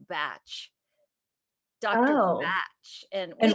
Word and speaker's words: Bach: way it's very interesting his name in england is pronounced batch dot batch and they